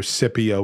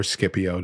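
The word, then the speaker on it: Scipio: man arises from Rome his name is either cpio or skipio depending how you want to pronounce the the SC um and he uh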